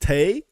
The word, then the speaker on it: Taye: It literally says in the Soundcloud bio, uh pronounced Tay, but you know, it's I've mentioned this before. It's because I've flip-flopped between them so much, Taye and Tai, that to this day